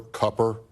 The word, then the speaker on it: Cooper: senator from Arizona uh Roy Cooper copper as he pronounces it governor of North Carolina